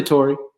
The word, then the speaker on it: Tori: Is it Tori or Torre? It doesn't matter. Tori. How do you say it? I say Tori.